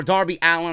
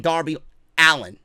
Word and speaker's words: Darby Allin: at Darby Allin or Darby Allin. I keep calling him Darby Allin because that's the way it's spelled. I got to get used to saying Darby Allin.